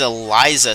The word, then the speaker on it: Elicia: the timeout it is Eliza Simmons by the way it's spelled Elicia but it is Eliza and that did not